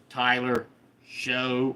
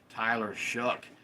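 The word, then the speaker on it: Tyler Shough: It looks like Tyler Show or Tyler Sha, but it's pronounced Tyler Shuck.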